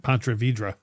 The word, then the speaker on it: Ponte Vedra: Anyways, Ponte Vedra.